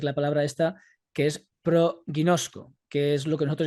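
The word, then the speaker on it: προγινώσκω: que en griego es la palabra proguinozco o proguinosco como en algunos la pronuncian que vemos por ejemplo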